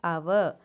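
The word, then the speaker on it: hour: for dash r so though it is starting with h it is pronounced as our means it has a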